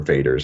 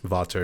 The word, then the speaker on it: Vater: just b-a-t-e-r yeah yeah it would be pronounced water in German okay interesting but don't